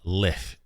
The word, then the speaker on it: lich: I can't not pronounce it lick now. Lich.